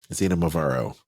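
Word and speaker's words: Xinomavro: They also have the Kiriani Naususa Zinmarvaro Dry Red. Zinamavaro Dry Red, that's how you say it.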